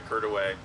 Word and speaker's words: Courtois: even coming here, I floated, depending on your pronunciation, right, the Curtways or Curtaway, just before coming in, which is part of that river system.